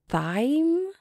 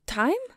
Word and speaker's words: thyme: Thyme? Thymy? Because if that's what you wanted, you should have just put your head on my thigh. Oh, time?